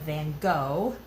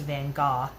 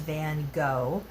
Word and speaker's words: van Gogh: by the name of van gogh actually it's pronounced van gaal he's from the netherlands so that's how they pronounce it over there but americans know him as van gogh and he's you know